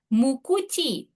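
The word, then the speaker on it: 無口: Mukuchi. Ini dari kanji nai. Nah, itu nggak ada kan? Nggak ada mulut. Sama So, kuchi. nah, jadi kanji nai sama kuchi artinya dia dibacanya mukuchi. Mukuchi itu pendiam ya.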